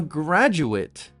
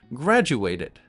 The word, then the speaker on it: graduate: Notice the difference in pronunciation. To graduate or a graduate. The ending for the verb or the action is ate. I graduated in linguistics. I graduated in linguistics. The ending for the noun or the person is it.